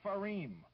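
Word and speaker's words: Fareem: All you have to do is tell us who is Habiba Farim. I'll spell it for you. Habiba is spelled as it sounds, H-A-B-I-B-A, and Farim is just like it's pronounced too, F-A-R-E-E-M, Habiba Farim.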